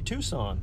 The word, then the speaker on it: Tucson: a sudden you realize it's it's Tuscon in a way that's supposed to be Tucson and then you realize oh yeah they just spell it funny man this is me